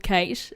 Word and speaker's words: Kayte: It's spelled Kayte, so I think that's Kate, but just with a Y.